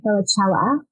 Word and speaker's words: Felicella: am honored thrilled and excited to welcome guy vichella am I pronouncing your last name right guy that's perfect